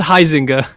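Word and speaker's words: Huizenga: up we have bill wiesinga or huizinga i'm not sure exactly how you say his name he is bazinga bill bazinga hosing his bazinga no it's it's heisinger i don't want to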